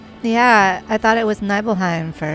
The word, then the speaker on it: Nibelheim: the water tower in neheim neheim I keep saying it wrong think how much it meant to me neble evil neble it still there that's how I need to remember it evil nil even though